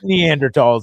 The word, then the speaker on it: Neanderthal: you know you see you leave a silent h in there too don't you neanderthal and yeah you see you said it different the second time yeah the first time you said neanderthal well i said it right but then i had